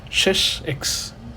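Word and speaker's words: sech: 1 / hyperbolic sin x then we Define shes X hyperbolic secant x which you write as s e CH X it's read as shes X this is defined as 1 / Kos x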